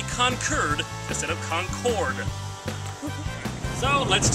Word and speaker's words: Concord: sound natural to me concord is how i would generally pronounce it however in these parts you say concurd because the british pronounced it concorde and well we kicked